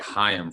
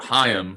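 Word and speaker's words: Chaim: just out of curiosity how do you get high em from c-h-a-i-m i think the c is silent well yeah i get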